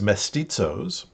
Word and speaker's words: mestizos: The term for this is mestizos. I'll spell that again.